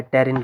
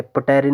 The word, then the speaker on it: pterin: और ये बनता है टेरिन रिंग से, PTERIN, टेरिन रिंग। पी साइलेंट रहता है, क्यों प्रोनाउंसिएशन बहुत ज़रूरी है। टेरिन आप लोग याद रखेंगे, पटेरिन नहीं पढ़ेंगे, टेरिन पढ़ेंगे।